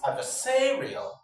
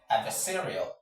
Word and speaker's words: adversarial: Penultimate, from the end of the word, this is the syllable to be stressed. So the right pronunciation of this word is adversarial.